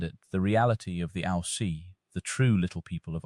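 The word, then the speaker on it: Aos Sí: The Ao-See, pronounced Ishi, literally means the people of the mounds or the people of peace.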